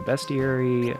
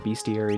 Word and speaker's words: bestiary: to run you got a bestiary or beastie area depending on how you say it and later on